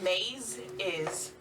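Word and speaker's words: Mazeisos: meet it's all right mazaya brevis team no just names oh yes how do you spell it um m a z e i s o s like maize is brevis b-r-e-v-i-s like maize is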